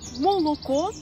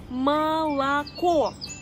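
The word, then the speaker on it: молоко: Parce que ils voient, par exemple, le mot moloko, ils le prononcent moloko, et ensuite, il y a Diana qui dit « Ah non, en fait, ça se prononce malako ».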